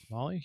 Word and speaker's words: Mali: how do you say is it arm Molly GPU m a l i Molly yeah we'll go with that Molly yeah or arm like Molly like the drug Molly or no like the